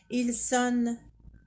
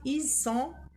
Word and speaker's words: ils sont: On ne dit pas ils sonnent, elles sonnent. Non, on ne prononce pas le N. On dit ils sont, elles sont.